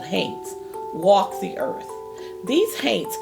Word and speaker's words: haint: The word haint is a colloquial way to pronounce haunt, which is another word